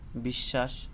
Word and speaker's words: বিশ্ব: যেমন এখানে বিশ্ব, তালবেশ্বর উচ্চারণ নাই, তালবেশ্বর উচ্চারণ হচ্ছে দুইবার, কিন্তু বফলার উচ্চারণ হচ্ছে না। আমি এখানে আরো কিছু শব্দ নিয়ে আসছি, যেমন পক্ক, অশ্ব, শাশ্বত, বিশ্বাস, বিদ্বান, নিঃশ্বাস, ঈশ্বর।